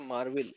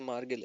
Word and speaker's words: Margil: Pankaj, you put my name as a Marvel. It's a Margil, Margil.